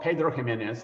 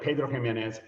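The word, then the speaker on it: Pedro Ximénez: It's called Pedro Ximenez. That X in Spanish is pronounced as N, as a J, as an H in English.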